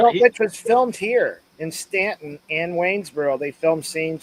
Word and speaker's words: Staunton: Is how they pronounce the name, but they say Stanton.